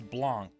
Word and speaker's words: Blanc: Alright, I looked it up just to make sure, so it's Blanc.